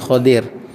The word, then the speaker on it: Khadir: Tuan-tuan panggil Khidir, bukan Khidir, Khadir. Nabi Khadir. Nabi yang hijau kehijau-hijauan, Nabi Khadir, bukan Khidir. Banyak orang Melayu nama Khidir. Bukan Nabi Khidir, Nabi Khadir ejaan dia.